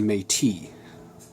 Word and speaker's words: Métis: Metis is what it's spelled like. If you have any French Creole or French Canadian influence in your life at all, you see Métis. Well, I didn't. So I call it a metis, regardless.